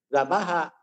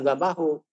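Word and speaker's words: ذَبَحَ: Tetap dibacanya zabaha, bukan zabahu atau zabahi.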